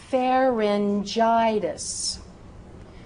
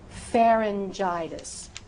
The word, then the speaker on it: pharyngitis: If that word begins with the letter G and is followed by the vowels E, I, or Y. E, I, Y. Use that J sound. Use that soft G sound.